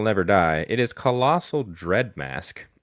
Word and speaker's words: Dreadmast: I think you actually pronounced this wrong. I think it's Colossal Dreadmast. Mosque.